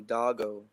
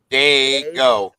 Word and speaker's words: Dago: No, I said now I know who's talking and calling you doggo. Yeah, he keeps doing it, but it's whatever, man. That's how he pronounces it.